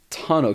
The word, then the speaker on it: tonneau: many people which is a tonneau cover and that's spelled t-o-n-n-e-a-u and then cover basically